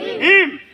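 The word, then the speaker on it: him: হিমের উচ্চারণ দুটা। কয়টা? আমেরিকান ইংলিশে এইচ এর উচ্চারণ হ। বলো হিম। এই হিমটা তো অবজেক্ট। হিমটা কি? এইচ আই এম, তাই না? এই হিম। এই হিমের উচ্চারণ আবার বাক্যের মধ্যে হলে ইম উচ্চারণ করে। কি উচ্চারণ করে? বলো ইম। আমরা বলি হিম। আর ব্রিটিশ ইংলিশ উচ্চারণে বলে ইম। তাড়াতাড়ি বলে ইম।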